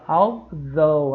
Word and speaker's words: although: Nós vimos although, olha a pronúncia, gente, ó, although, a língua vai lá no meio dos dentes, tá?